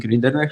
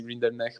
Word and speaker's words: Rinderknecht: Like they just don't correct people when they say Rinderknecht. But I think initially, I think it was supposed to be Rinderknecht.